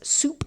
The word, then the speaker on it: sup: u p of s it is traditional to pronounce this as soup s so p is equal to the soup of s and it is